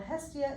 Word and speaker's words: Hestia: called Hestia and everyone's like how do you pronounce that what's Hestia well Hestia is the Greek goddess of Hearth home and